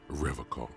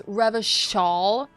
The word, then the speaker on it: Revachol: He pronounces Revocall with a hard K, unlike other people. He literally didn't. It's Revachol.